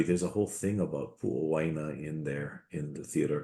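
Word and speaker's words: Puʻowaina: And similarly, there's a whole thing about Pu'owaina in there in the Theodore Kelsey collection, where I believe somewhere I've seen it, and one version of it is Pu'oina, which could just be a shortened pronunciation.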